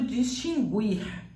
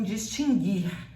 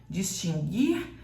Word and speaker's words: distinguir: tema não havia tremem distinguir ela tem o mesmo som de seguir distinguir seguir extinguir nunca gurir combinado cuidado ao pronunciar